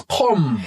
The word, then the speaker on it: Qom: So it's Qom. It's not too far off, because the qaf is a qa. So Qom.